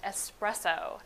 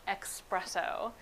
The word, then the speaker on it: espresso: explain to people that the proper pronunciation is espresso and not expresso so um espresso is